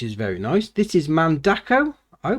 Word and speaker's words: Mandako: very nice this is mandako oh but how you pronounce sort of mandeco the five plex roller